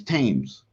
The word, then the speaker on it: Thames: Thames is actually his name's Thames, like the River Thames, and King Thames also